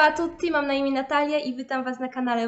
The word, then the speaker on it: Natalia: Wyobraźmy sobie, że ktoś mówi na mnie Natalia zamiast Natalia, albo ktoś mówi Kuba zamiast Kuba.